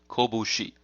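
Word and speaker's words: 拳: The kunyomi, or Japanese origin pronunciation, is as follows: kobushi. Ko, now the middle character is fu, but with the voicing it becomes bu. So kobu and then shi at the end. Kobushi.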